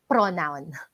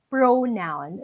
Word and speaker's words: pronoun: By the way, it's not pronounced as pronoun. All this time kasi akala ko rin pronoun. But then, I'll check the dictionary. I listen to other native speakers teaching English. It's not pronoun. Akala ko rin all this time pronoun eh. Pero it's pronoun. The O there is long.